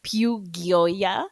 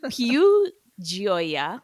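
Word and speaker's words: Più Gioia: I said Piu Gioia, but it is Piu Gioia, which I think means pure joy, if I'm not mistaken.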